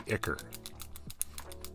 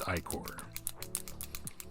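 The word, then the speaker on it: ichor: Again, I hate the word iicor on its face just because I don't like the way iicor is pronounced. It should be iker. But no, alas, English is a weird language. It's iicor.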